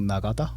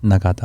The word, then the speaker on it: Nagata: Can you pronounce that for me? Nagata. Nagata.